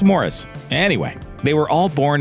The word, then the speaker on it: Maurice: Barry, Robin, and Morris Gibb. Yeah, that third brother, the one whose name looks like Maurice. It's actually pronounced Morris.